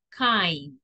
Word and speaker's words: kind: Then, amable, se pronuncia kind.